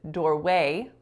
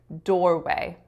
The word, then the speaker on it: doorway: fountains fountains and finally I said doorway doorway in which I'm stressing way but I should be stressing door so it should sound like doorway doorway so let's hear the